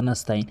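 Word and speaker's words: نَسْتَعِينُ: এরপরে যে মারাত্মক লেভেলের ভুল করে নাস্তাইন বলে, মানে হামজার উচ্চারণ করে ফেলে। এখানে আইনের উচ্চারণ করতে হবে হলকের মাঝখান থেকে, নাস্তাইন, এভাবে নাস্তাইন।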